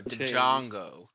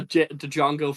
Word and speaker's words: Django: say it Django no Django D jongo the Django fit actually the the D is silent because D Jango says